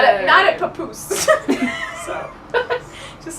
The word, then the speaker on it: Papoose: hypotheses concern underground facilities at Groom or at Papoose Lake. I'm sorry? That's a lake next to. Is that how you Say it again. Papoose. Wait, how do you spell it? Let me see. Papoose.